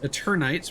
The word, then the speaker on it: Eternights: Then we checked out the demo for Eternights, which I think should be pronounced Eternights, which is like a Persona-style action RPG.